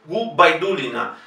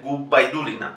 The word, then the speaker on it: Gubaidulina: Safía Gubaidulina. Es importante para ellos que la B no sea V, Gubaidulina.